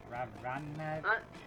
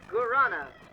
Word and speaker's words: guarana: Oh, what is that word? Ravana? I believe it's pronounced Guarana.